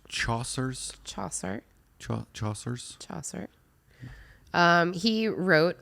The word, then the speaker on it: Chaucer: Is it pronounced Chaucer's?